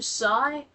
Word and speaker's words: psy: In fact, if I'm being honest with you, sigh, but it's spelled psy.